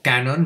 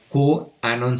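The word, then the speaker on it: QAnon: de Conspiración las teorías q Anon o Canon digamos q Anon se se escribe q a mayúscula no no y estas teorías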